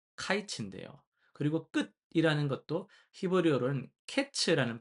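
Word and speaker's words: קץ: 그리고 끝이라는 것도 히브리어로는 캐츠라는 발음을 가지고 있는데요. 이게 어 발음이 카이츠 캐츠가 좀 유사합니다.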